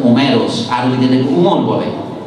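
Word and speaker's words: Όμηρος: আমরা নাম দিয়েছি হোমার, যার গ্রিক উচ্চারণ হচ্ছে ওমেরোস, আর ওই যেটাকে উমর বলে, আপনার ইলিয়াদ উপন্যাসের লেখক, হ্যাঁ তিনি আর উমরকে বলে, গ্রিক তো উমরই বলে, ওমেরোস বলে।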